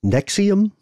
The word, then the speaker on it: NXIVM: learned about something called how would you pronounce this Nexium that's it yeah it kind of reads like kind of Roman numeral you see at the end of a movie which may well be